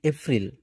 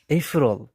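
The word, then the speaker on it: April: থাকি উচ্চারণ গুলো কেমন করে করি আমরা যে এপ্রিল নভেম্বর ফেব্রুয়ারি আসলে উচ্চারণ গুলো এগুলো না যারা নেটিভ স্পিকার আছে তারা কিন্তু এভাবে উচ্চারণ করে না তারা একে এই বলে পি এই রফ রল নট এফ্রিল ইফরল ইফরল ইফরল ইফরল হচ্ছে উচ্চারণ তারপর নভেম্বর তারা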